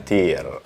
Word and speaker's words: TYR: Kita akan ngebahas sepatu yang satu ini, TYR, bacanya TYR.